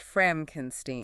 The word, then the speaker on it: Frankenstein: pronounced FRAHNK-en-steen.